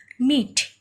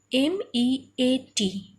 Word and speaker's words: meat: Then meat, M-E-A-T, meat. Okay, here EA is also sounded as E. A is not separately sounded, but only one syllable. You can pronounce it at a time, meat.